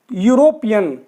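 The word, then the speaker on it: European: अब यूरोपियन में भी देखिए ई तो बिल्कुल साइलेंट है इसमें, तो ये क्या आ रहा है, यू, पहली साउंड क्या आ रही है, यू, यूरोपियन, तो इसके आगे क्या लगाएंगे हम, ए यूरोपियन।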